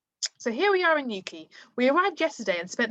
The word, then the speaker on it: Newquay: So Cornish Holiday Blog by Kate Ruttall. So here we are in Newquay. This is Newquay.